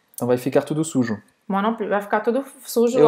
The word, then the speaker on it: moi non plus: Você não vai pronunciar o S no final. Moi non plus.